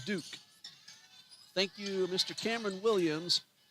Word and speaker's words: Duque: Number 2, Sarah Duque. It's either Duke or Duque. D-U-Q-U-E. And And let's check that. It is Sarah Duke.